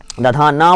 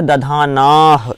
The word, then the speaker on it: दधानाः: दधाना, दधाना मैंने बोला था, दधाना बस नहीं बोल देना, क्या बोलना है? दधानाह, दधानाह।